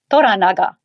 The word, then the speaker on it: Toranaga: repeat after me Shogun sh next one is toranaga taga and we sure don't want to earn